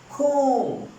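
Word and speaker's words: comb: खूम, यहां पे बी जो है ये साइलेंट है। खूम के अंदर बी साइलेंट है।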